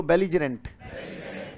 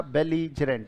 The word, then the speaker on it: belligerent: बोलो बेलीजरेंट। तो बेली हो गया, ज हो गया, रेंट हो गया। क्लियर के नॉट क्लियर? ये हो गया बेलीजरेंट।